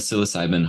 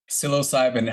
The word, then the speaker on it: psilocybin: That kind of psilocybin helps silence what's called the default mode network.